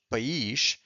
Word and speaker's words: país: And there is one word that is very similar, that is país, takes an accent on the I, and it's singular.